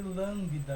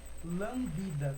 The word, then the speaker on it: lambda: E ele se escreve lambda, eu vou escrever aqui para vocês verem, mas não é lambda, tá?